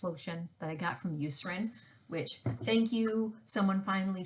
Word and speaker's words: Eucerin: my um anti-itch lotion that i got from eucerin which thank you someone finally told me that